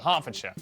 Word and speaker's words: Hertfordshire: ER is pronounced R. Berkshire, Clerkenwell, Hertfordshire.